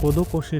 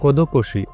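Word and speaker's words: 孤独死: कोदोकोशी एक जापानी वर्ड जिसका प्रोनाउंस हिंदी वर्ड खुदखुशी से काफी ज्यादा मिलता है।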